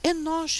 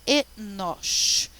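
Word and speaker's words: אֱנוֹשׁ: Mas esses 3 pontinhos vai dizer assim, olha, pronuncia essa letra como E, tá? Esse é o N, esse é o O e esse é o Sh, tá? Enosh.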